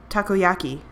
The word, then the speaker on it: takoyaki: on let's try that t taku takoyaki that's how it's pronounced as we approached the